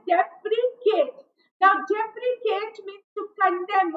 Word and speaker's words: deprecate: Now you have to concentrate on the pronunciation also. It is deprecate.